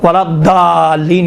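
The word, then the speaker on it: ولا الضالين: مشکل ہے انشاءاللہ تعالیٰ، یہ ضاد کا تھوڑا سا دقت کریں، ولا ضالین، دیکھیں ضا کہاں بعد نہ، ضا میں دیکھیں ولا ضالین کہیں گے تو کیا ہوتا ہے؟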